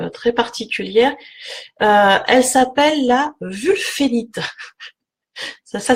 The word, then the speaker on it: wulfénite: Alors, cette pierre, qui a vraiment un aspect très particulier, elle s'appelle la wulfénite. Ça s'écrit W-U-L-F-E-N-I-T-E.